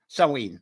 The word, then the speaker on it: Samhain: shorts uh poem uh sewer sawween whichever way you pronounce it scotland savine a